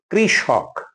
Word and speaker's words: কৃষক: উচ্চারণ হবে কাল রাত্রি কৃষক কৃষক না স কোন ওকার নাই কৃষক কৃষক কৃষক উপত্যকা আমরা ভুল করে